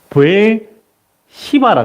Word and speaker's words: 브엘세바: 하면 이게 세거든요 예 근데 이제 영어 미국 사람들은 이걸 발음을 어떻게 하냐면 브엘 시바라 그러더라고요 예 그래서 브엘세바에서 엘리야가